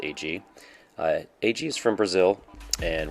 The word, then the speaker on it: Heidi: Today's chat is with Rob and AG, spelled like Heidi but pronounced AG.